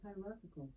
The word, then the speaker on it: hierarchical: Alexa, how do you pronounce Hierarchical? Okay, here's pronunciations. It is pronounced as hierarchical. Hierarchical. I still don't think I said it right.